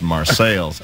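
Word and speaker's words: Marseilles: coal mining town in Central Illinois uh called marceles Illinois which is spelled exactly like Marse France but since it's in Central Illinois is pronounced marceles and it's and it's the uh you know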